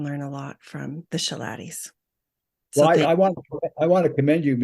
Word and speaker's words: Schilaty: Yes. Schilaty. Sorry. Buzz Schilaty. I know how to say it.